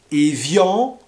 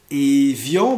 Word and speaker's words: evian: de bouteilles d'eau comme evian evian donc ça c'est de l'eau plate et vian comme les accords d'evian qui mettront fin à la guerre d'algérie vous avez les bouteilles